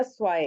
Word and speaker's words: zwei: जो एस से स्टार्ट हो रहे होते हैं वो जेड की आवाज लेते हैं, ज की। और जो जेड से स्टार्ट हो रहे होते हैं वो स की आवाज लेते हैं। तो ये हमारा हो जाएगा स्वाय। इस तरीके से इसको बोलना है, स्वाय।